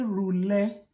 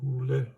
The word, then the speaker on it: rhulę: When you say rhulę, it means that this E comes with a diacritic.